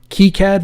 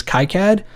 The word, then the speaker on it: KiCad: spell it wrong because multiple members of the development team have said they don't care how you pronounce it keycad or kai-cad doesn't matter different regions in the world are going to pronounce it different however it is spelled